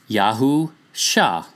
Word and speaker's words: Yahusha: The next letter is Shin, which has an SH sound, even in modern Hebrew for that matter.